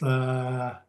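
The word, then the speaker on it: Kakabeka: Kehkayndahsohwin Falls just outside of Thunder Bay, but it's pronounced Kakabika.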